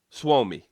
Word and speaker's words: Suomi: Suomi. So that's the correct way to say it.